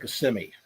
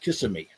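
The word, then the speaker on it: Kissimmee: Uh uh people uh where Disney is is the town of CMI. And people laugh if you if you uh if you pronounce it kissing me, they they'll make fun of you.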